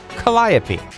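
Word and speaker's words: calliope: And for those of you trying to look it up on Google, you spell it C A L L I O P E. Colliopy.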